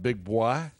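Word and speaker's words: Big Boi: We talked about Big Boy. Am I pronouncing that right?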